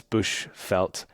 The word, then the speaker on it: Bushveld: But yeah, it's Bushveld, V-E-L-D is the way that felt is spelt.